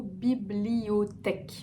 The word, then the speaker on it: bibliothèque: Le deuxième mot qui peut être difficile, c'est le mot bibliothèque. On le décompose aussi bibli, o, tech. Bibliothèque.